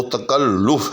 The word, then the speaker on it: تکلف: کہ درست نہیں ہوتا۔ درست جو ہے لفظ وہ تکلف ہے، یعنی لام کے اوپر پیش ہے۔ اسی طرح سے درست